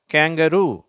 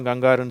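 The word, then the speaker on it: kangaroo: வார்த்தை எப்படி சொல்லணும் கங்காரு சொல்லக்கூடாது. கேங்கரு. தமிழ்ல நம்ம கங்காருன்னு சொல்றோம். ஆங்கிலத்துல அந்த மிருகத்தை அந்த விலங்க நம்ம என்னன்னு சொல்றோம்? கேங்கரு அப்படின்னு சொல்லணும்.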